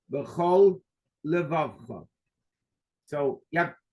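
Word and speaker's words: בכל לבבך: Stop, because if you say b'chol levavcha, you're using 1 lamed for both. So you're making a run-on word. B'chol levavcha. You have to say b'chol levavcha.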